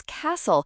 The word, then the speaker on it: castle: The answer for question seven is castle. Remember the t is silent.